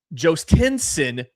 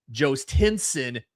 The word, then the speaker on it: Jhostynxon: Jostinson Garcia batting sixth. It's spelled Jhostynxon. Jostinson Garcia. Looked up how to say it.